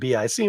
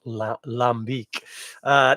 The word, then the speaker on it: lambic: little like lombique but it's beak not Bic but we see Lambic we go Lambic uh so I will